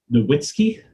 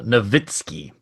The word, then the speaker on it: Nowitzki: a last name john nowitzki uh that w sound is a v sound in uh in german there so novitskiy nibitsky that's my bad um